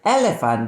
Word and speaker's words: elephant: Then we have the word elephant that has 2 E sounds. Elephant. Elephant. PH is pronounced like F, elephant.